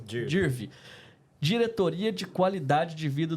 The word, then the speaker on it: Dirve: É assim que pronuncia, Dirv.